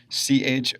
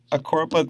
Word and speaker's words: Choropleth: First and foremost, the word is Choropleth, Choropleth, a little bit of a tongue twister. But what is it? A Choropleth map, and the definition